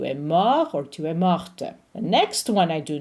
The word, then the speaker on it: morte: It's morte. If you are pronouncing the masculine form, the T is silent. It becomes mort.